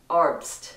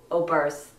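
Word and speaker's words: Oberst: got your phone like it's arpst not o birth that would be the american way or burst but there's no um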